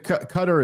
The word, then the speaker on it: Qatar: Also, if someone from uh is it Cutter or Qatar? I don't even know. Cutter is closer to being correct.